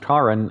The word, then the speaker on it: Karen: or running all right they say it's pronounced karen i refuse it's taren it's totally caring good job